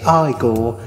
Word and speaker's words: Igor: lift the lid and see what's inside you pronounce it igor i'm the servant to frederick frankenstein so there